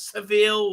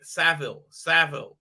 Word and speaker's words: Savile: By the way, somebody told Gary how to say Jimmy fucking Savile, not Seville or whatever. Please, come on. Can nobody out there can super chat that? I've never watched live. But come on, it's not how you say it. Seville. That's wrong, mate. Saville, like the road.